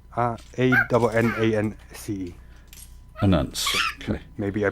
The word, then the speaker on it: Anance: Anance. Okay. Maybe I pronounced it completely wrong, but...